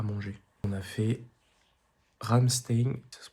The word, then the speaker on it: Ramstein: On a fait Ramstein, ça se prononce comme ça jusqu'à Ribauvillé aujourd'hui 23 km en passant par le Hokonitburg.